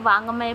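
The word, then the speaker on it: वाङ्मय: तो 31 का आंसर ये है आपका वैसे इसको वांग्मय पढ़ते हैं, ठीक है, वांग्मय।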